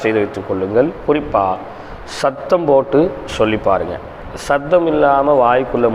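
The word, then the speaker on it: باء: பே இல்லை, பா பா. பே இல்லை, பா பா பா.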